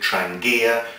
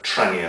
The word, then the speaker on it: Trangia: r a n g some people call it trangia trangia um but from what I've heard from reference it's got a silent G so just call it a traner stove and as I say